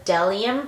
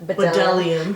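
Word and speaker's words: Bdellium: You always said Bedelium. No, I'll do it, and then they would always correct me and say, no, it's the B silent Delium brush, and it's the 964.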